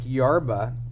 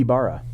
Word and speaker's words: Ibarra: This is from Nick Yarba. Yarba. YB, maybe not Yarba. I think Yabara, pronunciation master here. My mom would be Ibarra. Ibarra. Mm-hmm. Nick Ibarra. He's from my He's mom.